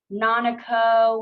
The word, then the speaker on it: Nanako: And then to ourselves, say something like, "Nanako, what does that rhyme with? Oh, Nanako, let's go to Monaco."